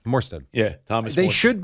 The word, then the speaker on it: Morstead: Did I say his name right? Yeah, Morstead.